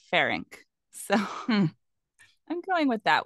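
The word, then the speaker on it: Ferenc: same way in everything it's f-e-r-e-n-c pharynx but in some documentaries I was watching they said faironek but there's no e between the n and the C and then others said pharynx so I'm going with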